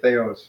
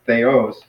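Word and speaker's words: θεός: there was yet so they O's so it's they are I know I sometimes tend to say Theo's but it's no it's they OS so that's kind of a bad habit among um sorry no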